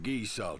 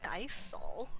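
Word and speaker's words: Gysahl: How about some geese all chips for the road? Geese all? Oh, is that how you pronounce it? I always thought it was like Geisel.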